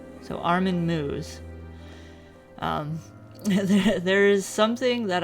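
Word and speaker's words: Armin Meiwes: I'll stop all right the internet says it's pronounced Armen moo so Armen moo um there is something that I had deep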